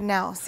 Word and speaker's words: Knaus: Yeah, Chad Knaus. Yeah. Chad Knaus. The K is silent.